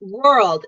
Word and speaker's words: world: So world is like this. First you need to put your cheeks in like this. And then do the 卷舌. So first it's and then it's 卷舌 for R. And then the L sound. No 卷舌, not you don't want to curl your tongue at the end. First you 卷舌 and then you let your tongue flat.